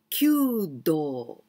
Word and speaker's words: kyudo: kudo very elegant spot cue do well q we pronounce like q just like number nine it is q like q but different kanji here one two three like